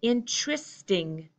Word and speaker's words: interesting: in two less sting my poor unclear reduced American English pronunciation I say interesting interesting wow that's really